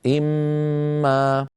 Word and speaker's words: إمّا: ان كلمه وما كلمه ولكن عند الوصل القرا واحده اما لابد من ادغام النون في الميم فيصير النطق اما هذا ما نلاحظه على